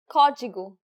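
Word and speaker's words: código: so let's practice them where should the stress be placed in this word kodigu did you get it right the stress is on the first syllable the acute accent should have been a dead giveaway here's the next one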